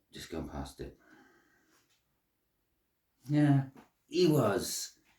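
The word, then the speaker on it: Ehwaz: Yeah, Ewas. It's Ewas, and Ewas is death, change, rebirth, magic to a certain extent.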